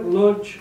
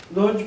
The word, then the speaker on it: Łódź: And I call it Łódź, open city, and I'll just play it safe and use the North American pronunciation, because you'll sense what